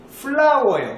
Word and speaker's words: flour: 보통은 floor라고 읽는 친구들이 굉장히, floor는 바닥이고요. 이거요, 밀가루인데요. 발음이 flower예요. 뭐와 똑같죠? 그렇죠. 꽃과 똑같죠. flower예요. 발음이 flower, flower, 아시겠죠? 플로우 하시면 안 돼요.